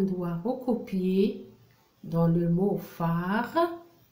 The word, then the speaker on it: phare: recopier dans le mot phare, regardez bien, phare, la syllabe P-H-A, fa, la syllabe fa, fa, fa.